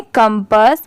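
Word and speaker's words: compass: एस इसे हम पढ़ेंगे कंपास यहां पर इसकी प्रोनंसिएशन कंपाउंड पास नहीं होगा। इसे हम क्या प्रोनाउंस करेंगे? कंपस एस एच ई शी यह है टिप टोड।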